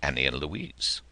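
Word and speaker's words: Annie Louise: heard in his life Annie and Louise pronounced Annie Eloise when the dreams swamped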